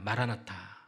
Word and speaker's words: 마라나타: 이 마라나다라는 말은 아람어의 마라나타의 그 음력을 그대로 발음한 헬라어예요. 성경에 딱 한 번 쓰인 단어입니다. 마라나타.